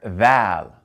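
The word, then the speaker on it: ذال: And next we have the letter val. And the letter val, it sounds like a soft version of dh, similar to the first two letters of that.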